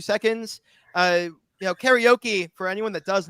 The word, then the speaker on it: karaoke: Karaoke. Yeah, karaoke is how you say it in Japanese. Like not Really?